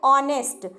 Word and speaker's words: honest: If the word starts with the consonant and is silent, like in honest, Honest, honest, but here H is silent and H is not giving the consonant sound.